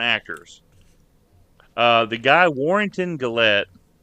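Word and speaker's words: Gillette: uh the guy Warrington gallette I believe is how you say his last name let me make sure this is the right guy okay warron glette yeah like the Razer he's the unmasked Jason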